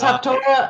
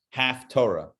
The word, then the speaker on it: Haftarah: I'm sure it does, but it's not half Torah. It's spelled with a different spelling altogether than Torah. It's with a tes and not a tuf. 2 different letters in Hebrew make that T sound. It's the other letter.